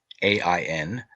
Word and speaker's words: Aen: In this myth, John, Aen, spelled A-E-N, E-I-O-N, and A-I-N, three forms of the word and all pronounced Ain, represents the redeemed and